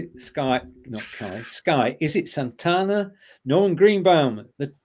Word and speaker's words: Santana: can't imagine him singing it awesome Tanna or Santana to pronounce it correctly it's all torn and John's